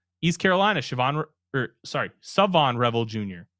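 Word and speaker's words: Shavon: East Carolina, Siobhan or sorry, Savon Rebel Jr. The H is silent.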